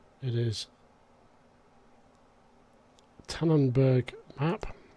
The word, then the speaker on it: Tenneberg: of the uh the uh Tannon let me pronounce this right it is tanenberg map it's obviously a German map um it's